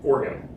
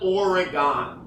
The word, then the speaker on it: Oregon: Oregon you do okay organ it's organ no it's no now you me up it's organ or oron oron it's it's almost like two syllables it's or it's not origon I'm sorry this is